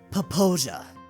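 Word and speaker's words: Popo Agie: Popo Aggie Wilderness? Logan answered. It is pronounced Poposia.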